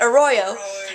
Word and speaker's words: Arroyo: in sync a Royo a Royo so that's how you say it a Royo and then I'm I'm